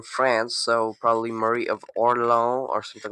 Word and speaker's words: Orléans: Uh Valdemar married Mar- Marie of Or- of not Orleans because that's the American way to say that. She was actually from France, so probably Marie of Orléans or something like that.